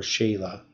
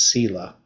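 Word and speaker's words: סלע: the word rock is is cella or sheila depending on how you pronounce it sila i guess it's sila it's not an sh it's an s okay so so from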